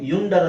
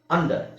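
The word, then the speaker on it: under: ಇಲ್ಲಿ ಅಂತ ಹೇಳ್ತಾ ಇದೀವಿ ಯು ಯುಂಕಲ್ ಅಂತ ಹೇಳಲ್ಲ ಅಂಕಲ್ ಯು ಯು ಅಂಬ್ರೆಲಾ ಅಂತ ಹೇಳಲ್ಲ ಅಂಬ್ರೆಲ ಯು ಯುಂಡರ್ ಅಂತ ಹೇಳಲ್ಲ ಅಂಡರ್ ಸೋ ಅಂಕಲ್ umbrella ಅಂಡರ್ ಇಲ್ಲಿ ಯು ಅಕ್ಷರ ಇದೆ ಉಚ್ಚಾರಣೆ ಏನು ಅ ಇದರ ಅರ್ಥ ಏನು ಈ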